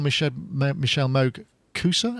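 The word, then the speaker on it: Michelle Moog-Koussa: well we've had Michelle on the show before Michelle Moog Coosa is that how you pronounce it yeah it's correct that's correct so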